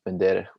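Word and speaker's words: Bendery: grew up in the town of pendera which is spelled bender um you can see it's in the south southeastern part of moldova there and bandera during the time of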